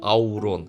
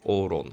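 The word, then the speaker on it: Auron: Це курорт Оурон або Аурон, як його називають наші, але по-французьки він читається саме як Оурон.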